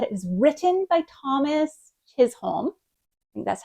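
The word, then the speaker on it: Chisholm: song is that it was written by Thomas chol that's how you pronounce his name but then it was composed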